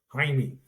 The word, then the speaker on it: Jaime: Jaime. J's are not pronounced in Spanish. Jaime? So Jaime. Jaime? Jaime. It sounds like Heine.